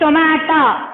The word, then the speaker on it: stomata: Not tomato, it's stomata. S-T-O-M-A-T-A. So pronounce it once again. S-T-O-M-A-T-A. Stomata.